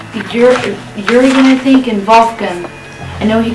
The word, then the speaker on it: Wolfgang: It's pronounced Wolfgang in English, right. but it's Wolfgang in German place.